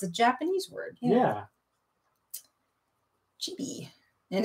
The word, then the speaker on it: Chibi: Reed says that is how they pronounce it in Japanese. Chibi.